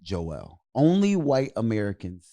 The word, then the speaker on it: Joel: and even even in even in the Bible when it says Joel the way it's pronounced it's Joelle is that why we